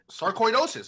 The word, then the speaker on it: sarcoidosis: oh sarcoidosis doses no this is like actual way like sarcoidosis I'm telling you that's how you say it all right man this